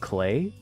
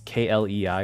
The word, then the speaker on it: Klei: I think the studio is called Klei, but it's spelled like well, it's k l e i or something, but it it's pronounced like play, you know, Klei.